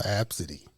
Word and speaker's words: Abcde: y'all that don't know how do you spell absidy my name is spelled a b c d e a b